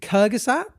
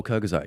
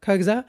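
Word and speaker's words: Kurzgesagt: Is it Kyusat? Oh, Kyazat. Yeah, Kyazette.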